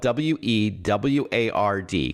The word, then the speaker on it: WeWard: He's the CEO of WeWard, which is spelled w e w a r d, kind of like reward but WeWard.